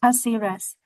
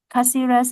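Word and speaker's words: Cáceres: He would change buses in how to pronunciation? Taxi Rex. Taxi Rex. Caceres. Caceres and continue another 200 kilometers north.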